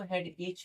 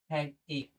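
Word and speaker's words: headache: बहुत लोग इसको हेड एच बोलते हैं। ये देखिए, एच नहीं बोलेंगे, एक बोलेंगे। एच यहाँ साइलेंट, एक, ना ही एच ही बोलेंगे, एक, बस एक। हेड एक।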